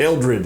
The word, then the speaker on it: Eldred: am today sitting in my office with Eldred did I pronounce it right that's correct Eldred and it has been with us for